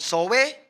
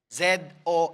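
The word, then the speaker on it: ζωή: that Talks about life the one that's called soe hindi pala ang pronunciation niyan is so Why so y z o a y so it's called zo Sabihin niyo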